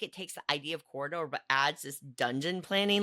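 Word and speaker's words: Quoridor: First up for me is Corridor, spelled with a Q because why not?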